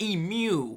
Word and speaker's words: emu: And then we got emu like pew. Like you know how somebody say pu or pew.